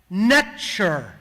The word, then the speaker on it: NTR: NTR was actually pronounced nature. Almost identical, extremely close to the English pronunciation of nature. Almost as if a southerner from the United States was pronouncing it.